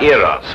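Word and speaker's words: Eros: influence of stage hands she added an H where there shouldn't have been one what then spell it as she spelled it but without the h e r o s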